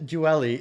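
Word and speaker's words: dually: No offense, but the word duelli is pronounced duelli, not duelli.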